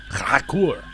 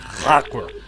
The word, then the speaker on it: Krakur: Krakur. Because that's how you pronounce H in a Klingon. It's that. It's like you're hucking a loogie. Krakur.